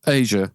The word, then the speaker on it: Aja: Aja? Am I saying it wrong? Yeah, Asia. I think it's Yeah.